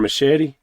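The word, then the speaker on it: Mascitti: that's Lauren Machete. Yeah, I like that last name. yeah. That's a cool It name. rhymes with spaghetti, so It no.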